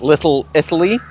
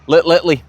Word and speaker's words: Little Italy: now also known as Little Italy I have to say Little Italy otherwise I Go lit LLY and you probably won't